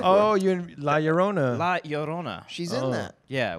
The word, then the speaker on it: La Llorona: The two L's make a Y.